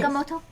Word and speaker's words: Agamotto: Isn't that how you say it? Yeah. Yes. Yeah. Agamotto. I think of it as like the Moto roll, but you know.